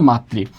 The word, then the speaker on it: মাতৃ: ওকে, একটু আসি রিকার থাকলে রিকার অপরিবর্তিত থাকে, তার কোনো পরিবর্তন হয় না। যেমন এখানে লেখা আছে মাতৃ, তার উচ্চারণ কী হবে? উচ্চারণও হবে মাতৃ।